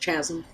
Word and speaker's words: chasm: an invisible bridge that leads from the sewers across the chasm It's pronounced chasm.